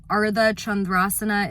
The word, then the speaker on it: Ardha Chandrasana: You know, Ardha Chandrasana is a beautiful pose, half moon pose. And Chandra, you know, Ardha, like make sure you pronounce the D's and the H's and the R's.